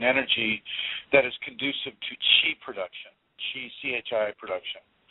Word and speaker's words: chi: that is conducive to chi production, chi production. Some people pronounce it ki, or I don't care. Chi looks like chi to me, so that's what it is to me.